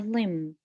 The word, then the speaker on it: limb: here we have the limb the B is silent so we say limb means arm we have